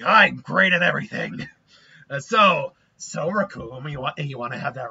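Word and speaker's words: Recoome: Well, you better know that the name's Raccoon, and it rhymes with doom, and you're gonna be hurt.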